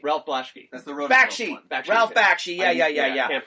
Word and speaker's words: Bakshi: Blasky. Ralph Blasky. That's the road. Bakshi. Ralph Bakshi. Yeah. I can't pronounce it.